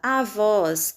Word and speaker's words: avós: Na palavra avós, nós temos a, voz, sílaba mais forte, voz, som aberto, acento agudo.